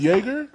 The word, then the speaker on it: Jaeger: how to say it dave jaeger that's that's how you say jager yeah loyal damn that's